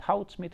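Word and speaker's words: Goudsmit: And Houtsmit is pronounced with an H because he was Dutch.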